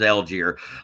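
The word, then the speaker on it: Allgeier: So it's not the way it's spelled. It almost looks wrong. It looks like it should be more French, more Algier than Algier, but it is Algier.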